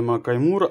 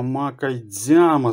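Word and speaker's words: 魔界島: Так, і ось ця гра, це у нас не Макаймура, а Макайдзяма, здається. Ой, правильно, ось так вона вимовляється.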